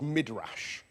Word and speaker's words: Midrash: Now, there is an ancient Jewish form of commentary on the Torah called Midrash. That's spelled with a capital M, M-I-D-R-A-S-H, Midrash.